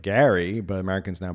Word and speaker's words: Gerry: Gary's name is pronounced like Gary, but Americans now pronounce it like Jerry.